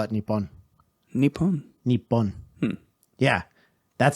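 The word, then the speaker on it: Nippon: they don't call it that they call it nipon yeah that's how you pronounce and Americans just went Japan Japan laughs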